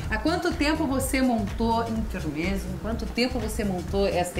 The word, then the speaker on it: intermezzo: Nesse intuito de fazer esse trabalho personalizado que surgiu a Intermezzo. Agora, dia 26 de março, completamos 4 anos de trabalho. Intermezzo. Na Isso. verdade, ela tem outra pronúncia, né? Isso, ele vem do italiano intermezzo.